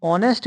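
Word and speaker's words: honest: ठीक, तो ऑनेस्ट में जो साउंड आ रहा है वो किसका आ रहा है? एच साइलेंट है पहला, तो ये समझ लो। साउंड आ रहा है ओ से।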